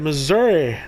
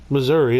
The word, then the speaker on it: Missouri: to you live from the great state of Missouri not Missouri only idiots say Missouri it's Missouri you say it like it's spelled very easy today we're going to be